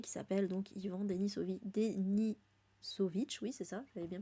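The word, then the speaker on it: Denisovich: yeux d'un prisonnier qui s'appelle donc Yvan Denisov denisovic oui c'est ça jeavais bien prononcé euh que l'on va suivre donc au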